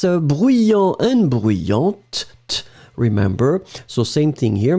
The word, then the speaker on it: bruyante: D'accord, you will pronounce this t in the end for the feminine. So bruyant and then bruyante.